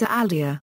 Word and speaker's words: Aldi: ALDI Einkauf GmbH and Compagnie, OHG, doing business as Aldi. German pronunciation, Aldi, short for Albrecht Discount, is a global discount supermarket chain based in Germany.